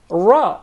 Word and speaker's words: ر: I wonder, this letter for the English speakers is pronounced totally different, from a totally different articulation point than the letter Ra in Arabic.